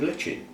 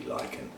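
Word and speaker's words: lichen: always have you know as a kid that's how everybody new pronounced it moss and litchin but obviously it should be liken but there is some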